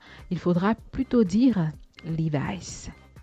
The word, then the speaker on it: Levi's: Eh bien, oubliez votre bon vieux Levi's. Il faudra plutôt dire Levi's. Levi's.